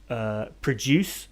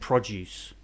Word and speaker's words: produce: changes the meaning like yes produce and produce then it's just a case of stress the word that the stress is on a different vowel it is and it changes from being either the verb to produce to the noun produce the things that you